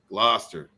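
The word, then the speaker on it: Gloucester: thank you very much it's pronounced gloster and namaste i would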